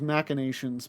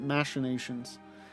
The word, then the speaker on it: machinations: machinations machinations you know i always thought it was machinations but then in this game they pronounced it machinations so careful we would